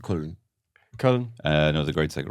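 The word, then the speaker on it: Köln: I thought you were talking about the band Can from Cologne. No, Damn never. it. It's pronounced Kuln.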